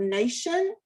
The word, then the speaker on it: nation: if you look at the word nation that t i ends up making the sh sound this is english and